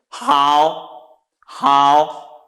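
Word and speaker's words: 好: in meaning so how this one we pronounce it how how because it has the third tone descending then ascending how how so this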